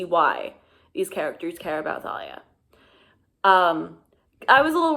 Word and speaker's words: Thalia: By the way, Thalia, like the pronunciation is just killing me because like I do mythology now and so everyone says Talia in classics.